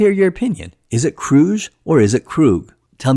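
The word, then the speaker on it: Kruge: It can go both ways, but I feel it mostly sounds like Krug. Commander Krug. Commander Krug. So, I'll go with Krug for this video.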